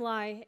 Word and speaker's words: Li: that's me um so my name is Li at rhymes with pi and I'm a grad